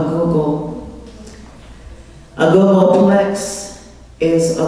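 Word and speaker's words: googol: pronounce the word g-o-g-o-l how do you pronounce that a google a google plex is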